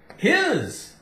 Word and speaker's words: his: when it sounds like when s sounds like Z now most of the time s sounds like s s that's normally what it sounds like but it can sound like is z z is I is uh it is a sunny day his h i s his just put H in